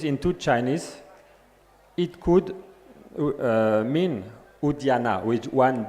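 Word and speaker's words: Udyana: n a which is a spelling which relates to a pronunciation quite different from udan is different udana udana meaning garden.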